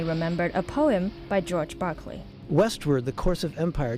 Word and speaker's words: Berkeley: the area after him, but pronounced in American fashion, Berkeley.